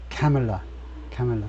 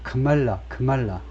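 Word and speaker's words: Kamala: 이름은 앞에 엑센트를 돼야 된다는 거죠 그래서 예 카멜라 카멜라 그래서 트럼프도 맨날 애 먹는게 이걸 자꾸 말라 말라 이렇게 발음을 하니까 미국 사람들이 이제 민주당 쪽 지지자들은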